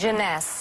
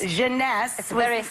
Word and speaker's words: Jeunesse: ageless what what's the company how do you pronounce this janess janess maker and it's less than $75 retail with